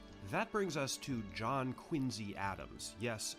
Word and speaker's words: Quincy: hard to find that brings us to John Quincy Adams yes spelled q-u-i-n-c-y but pronounced Quincy and his successor Andrew Jackson both